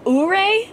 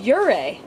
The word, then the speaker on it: Ouray: wrong the whole time we've been saying uray which now that I know it's wrong sounds a little ridiculous it's your ray yeah that's a little